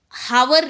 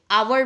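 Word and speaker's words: hour: हावर नहीं बोलते। आवर बोलते हैं, हॉनर नहीं बोलते हैं।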